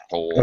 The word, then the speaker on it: whole: the same pronunciation wise whole okay the W isn't there at all okay all right uh